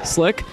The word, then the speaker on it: Slyck: spelling his name as s l y k slick to S CK I haven't quite gotten a